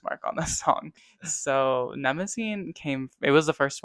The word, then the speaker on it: Mnemosyne: Yeah, some people say Mnemosyne, and I am not going to fight them on that. I simply didn't choose that pronunciation. Mezzanine, No, Mnemosyne, yeah, no one, no, those are all wrong.